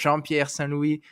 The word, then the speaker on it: Jean-Pierre Saint Louis: But your real name is, of Yeah, course, Jean-Pierre Saint Louis. Thank you for joining me, sir. How are you? I appreciate you saying it correctly with the accent and all that too.